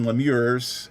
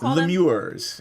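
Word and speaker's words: lemure: Lemurs. L E M U R E.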